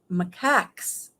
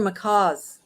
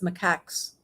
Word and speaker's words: macaques: 13 long-tail, I've learned how to say this, macaques, the monkeys. I thought they were macaws or something, but it's macaques.